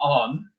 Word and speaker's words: an: It's always going to be on, that's A-N, pronounced on, regardless.